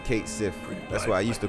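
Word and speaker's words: Cait Sith: life I never imagined cat Sith was Scottish Fortune teror extra so they do pronounce the ey they call him Kate Sith that's why I used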